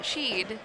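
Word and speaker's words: Scheid: So, but everyone looks at it and they want to go and sheed because it's um s c h e i d.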